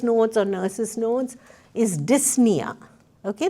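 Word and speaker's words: dyspnea: Another very common term that you will see in your doctor's notes or nurse's notes is dysna. Okay the p is silent. You don't pronounce the p.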